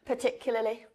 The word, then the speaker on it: particularly: Alors, vas-y, prononce-le d'abord en mode natif. Particularly.